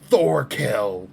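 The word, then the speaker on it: Thorkell: Thorkill. Get the K in there. Say that fucking K.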